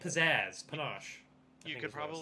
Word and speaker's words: panache: It's like chocolate ganache. Yeah. Mm. That's That's probably a Oh, fancy I word. think it was like pizzazz, panache.